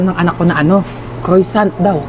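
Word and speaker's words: croissant: Croisant daw. Croyant? Ah kwasant po.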